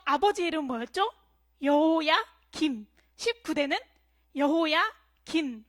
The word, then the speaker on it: 여호야긴: 여호야김. 19대는 여호야긴. 발음에 주의를 해야 돼요. 사람이 바뀔 수가 있습니다. 그의 아버지는 여호야김이었고 여호야김이 죽자 그의 아들에게로 왕위가 넘어가는데요. 여호야긴이 바로 19대 왕이 됩니다.